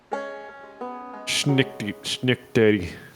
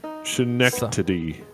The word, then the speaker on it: Schenectady: Schnickdaddy. How do you pronounce that? What? The county. Schenectady.